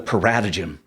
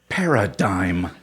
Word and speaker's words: paradigm: reading so I'm piping up talking about the Parata Jim you know according to the Parata Jim and this Parata Jim is really helpful finally the teacher sighs paradigm it's pronounced paradigm Terri smiled as in you are a paradigm